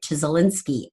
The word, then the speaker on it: Csikszentmihalyi: And Flow is a book written by Mihaly, I never say it right, Csikszentmihalyi, I think is his name.